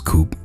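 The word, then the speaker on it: Coupé: black, and I chose Coupe from Dispatch. Well, let me actually say it right, it's Coupe, but most everybody just calls it Coupe because they just can't get her name right.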